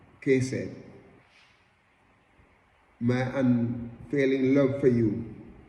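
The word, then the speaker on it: חסד: The word love, the Hebrew word for love, is word hesed. Hesed, it pronounced kesed.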